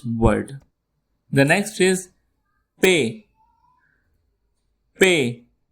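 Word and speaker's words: پ: Pay. You can pronounce it like you say pay money.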